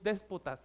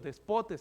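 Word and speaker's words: δεσπότης: del griego significa eh No es déspotas es despotes Eso significa en griego despotes ahí tiene el acento en la o despotes que significa dueño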